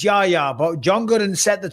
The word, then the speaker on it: Yahya: Apparently, it's pronounced Yaya. I think it's Yayya, but John Gooden set the tone with Yeah.